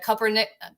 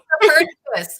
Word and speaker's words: Copernicus: Tricia's Robots with Animated Glow course, and the Copernic. I'm saying it wrong again, Tricia. I don't know if I could say it right. Copernicus.